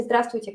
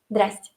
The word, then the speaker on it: здравствуйте: Todo el mundo dice здравствуйте cada día y claro, tenemos una versión más ligera de cómo pronunciarlo, decimos здрасте, здрасте, ¿sí?